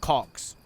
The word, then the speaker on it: Cox: How do you say the Cox's guy's name? Just Cox. Like penis.